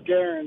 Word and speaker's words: Garin: Is it Jaron? Garin. Or Garin? It's spelled Garin, but I'm guessing it's Jaron. No, it's Garen. It is Garin.